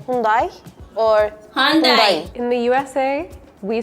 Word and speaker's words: Hyundai: star at the end, it's muted. So that's why yundai hyundai. But do you guys know the reason why it's pronounced dye? Because back in the days, Japanese cars were considered to be like really high quality. So in order for Korea to market the cars, well, they would make it with a Japanese pronunciation so that people would